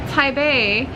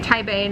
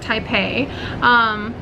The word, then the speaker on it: Taipei: And I wanted to show you guys more of Taipei, which is how you pronounce it correctly, by the way. Taipei, not Taipei.